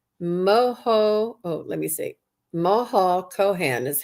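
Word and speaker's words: Maha Chohan: Moho Kohan is how they pronounce it in the book.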